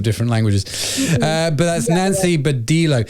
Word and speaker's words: Badillo: I think it's because I'm Latina, so I'm saying Badillo. That's how you say it in Spanish, but you said it right. In English, I think it is Badillo.